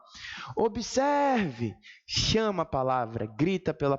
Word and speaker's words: observe: ela disse assim ó Observe chama a palavra grita pela palavra onde a sílaba esticar um pouco mais aquela é a tônica então na palavra observe a sílaba mais forte é a penúltima por isso Esta palavra